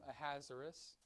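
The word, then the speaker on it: Ahasuerus: through by the way that's how you pronounce his name a hazaris not how a missile is no i'm just kidding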